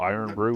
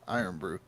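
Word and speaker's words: Irn-Bru: So they spell Iron Brew with no iron. Melt in your hand. That's how you spell it. I R N B R U. Iron Brew.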